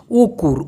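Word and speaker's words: ukur: হচ্ছে ওটার উচ্চারণ হবে উকুর উকুর উকুর কিন্তু মালয়েশিয়ানরা অনেক সময় এই র শব্দটাকে উচ্চারণ না করে বলে উকু উকুব্রাপ্পা উকুব্রাপ্পা এই উকুর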